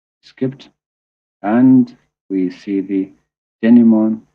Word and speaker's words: denouement: and we see the denouement. In here, T is silent, by the way.